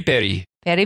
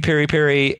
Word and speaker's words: piri piri: South African Spelling Bee Perry Perry Perry I still didn't see wrong but still buddy Barry no but still that's where that pronunciation comes from so Perry Perry is a South African version so Nando's is Perry